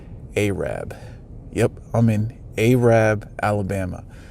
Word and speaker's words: Arab: I said, "What is the correct way to pronounce this town?" And do you know what she said? Arab.